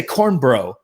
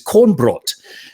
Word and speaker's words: Kornbrot: And I asked him, how would you like me to pronounce this? And he says, you could just say corn bro. And I'm like, I don't know. That sounds like a surfing term. I'm not going to go with corn bro. I'm going to say the correct pronunciation, which is Kornbrot.